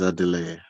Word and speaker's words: Adelaide: Yes, it is Adelaide. Adelaide, perfect. More similar to Spanish pronunciation.